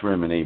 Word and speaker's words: Rimini: like in Rimini Italy well in Italy that's remedy but it's alkali lagna vmn and that thing so we miss a high and we proud of it so we make it a long I it's really not rim and I lives just north Lake